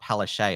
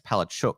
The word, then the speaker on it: Palaszczuk: I call her Palachuk because, well, that is actually the Polish pronunciation. It's not Palaszczuk, it's Palachuk. That's the pronunciation.